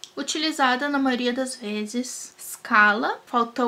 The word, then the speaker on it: scala: Scala, falta o ezinho aí para fazer escala do português.